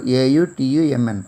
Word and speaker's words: autumn: The last word, A-U-T-U-M-N, autumn, autumn. Here N is silent.